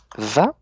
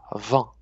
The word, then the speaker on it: vent: Vous prononcez un peu comme vin, mais Vent.